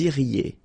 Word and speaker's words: iriez: Vous iriez. Remember, when you get this EZ at the end, you get the sound E.